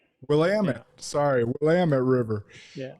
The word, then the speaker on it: Willamette: He was the first person to swim the entire 187-mile length of Oregon's longest river, the Willamette River. Did I pronounce that right? Willamette. Willamette.